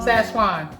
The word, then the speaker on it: Szechuan: How do you pronounce it? How do you say? The Szechuan. Szechuan.